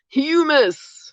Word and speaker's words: humus: to that as humus everybody say humus on three one two three humus yeah not hummus but it's spelled the same so that's that really